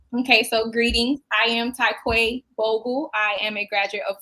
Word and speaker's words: Tai'Quay Bogle: Please correct me if I'm wrong, but Tai'Quay Bogle. It's cool. My family says Tai'Quay, but phonetically it's Tai'Quay.